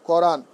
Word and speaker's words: করান: আচ্ছা, এবার দেখেন আন প্রত্যয়ন্ত শব্দের শেষে ঔকারন্ত উচ্চারিত হয়। যেমন আনো, উচ্চারণ কি হয়ে যাবে, আনো। করান, এটা কি হয়ে যাবে, করানো। বলান হয়ে যাবে কি, বলানো। দেখান হয়ে যাবে কি, দেখানো। লেখান হয়ে যাবে কি, লেখানো। খেলান হয়ে যাবে খেলানো।